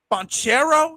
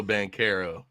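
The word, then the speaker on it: Banchero: the show it's a paulo bonchero is am i saying it right no no no it's uh it's paulo bankero i have no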